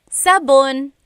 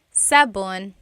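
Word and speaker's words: sabon: Soap in Tagalog is sabun. Sabun.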